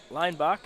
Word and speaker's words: Leinbach: Excuse me, I've been pronouncing the name wrong. Isaac Leinbach is how it is said.